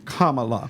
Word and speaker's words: Kamala: By my name being Tamala, sometimes I will actually make the mistake of the mispronunciation because I'm just so used to saying my own name. You understand what I'm saying? So sorry Okay. if I do. Look, it's Kamala. But look, Yes.